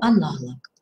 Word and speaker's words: аналог: Существительные мужского рода, которые заканчиваются на лог, это не окончание, они просто заканчиваются на лог, я акцентирую внимание на этом, называющие неодушевленные предметы, имеют ударение на последнем слоге. Эпилог, каталог, некролог, но. Всегда есть исключения в русском языке, также и в орфоэпии. Но аналог.